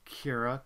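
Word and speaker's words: Kyra: oops my goodness cannot type and that is pronounced Kira k y r a as I name all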